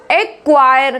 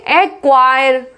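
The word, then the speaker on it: acquire: अब इसमें देखो क्यू से पहले सी है, यहाँ पर किससे पहले है? क्यू से पहले सी है, तो एक्वायर, क्या बोलेंगे? एक्वायर, एक्विट, एक्विट, एक्विज, एक्विस, इस तरीके से, ठीक है।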